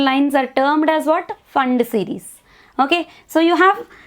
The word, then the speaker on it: Pfund: you call it as fund series. Fund series, here P fund we will write, but P is silent.